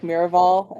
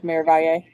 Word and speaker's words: Miravalle: I pronounced it like Miraval and then switched over to Miravalye.